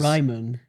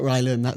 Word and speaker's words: Ryman: Ryman. It's not Rylan. That's a camp comic, isn't it? That's correct. Ryman's.